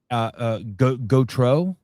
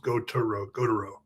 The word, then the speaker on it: Gautereaux: Gautereaux. Go. Yes, but there's E. Go. So it's Gautereaux.